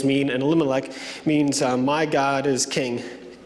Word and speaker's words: Elimelech: The name of the man was Elimelech, is how you pronounce it.